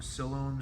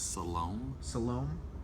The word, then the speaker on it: Siloam: Jackson from Siloam Springs, Arkansas asks... Siloam? Excuse me. Spell it. S-I-L-O-A-M. S-I-L-O-M? O-A-M. Siloam. Siloam Springs, Arkansas.